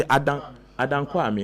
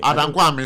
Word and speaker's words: Adankwame: Or see, Adankwame, me name if that's the right pronunciation in Ashanti region. Is it Ampame or? There be Adankwame. Adankwame.